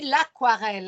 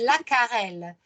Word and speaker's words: aquarelle: les pastels secs l'aquarelle vous remarqué qu'ici je dis l'aquarelle alors que la règle en français voudraient que je ne prononce pas le eu que je dise la carelle maintenant parce que comme ça dérive c'est un terme qui dérive directement du latin les thèmes qui nous